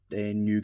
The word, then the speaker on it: Nu: But yeah, um we've got the RX 93 FF new fighter. That V is pronounced new.